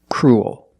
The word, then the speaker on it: cruel: a dark L Cru it sounds like pool and cool you have the long